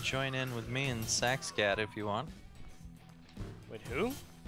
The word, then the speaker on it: Saxcat: Yeah, you could join in with me and Saxcat if you want. With who? Never mind. Did you say sex cat?